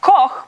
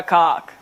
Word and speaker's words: Koch: It's meant to be pronounced Koch, but if you're living in an English-speaking country, 8 out of 10 times I am Olga Koch.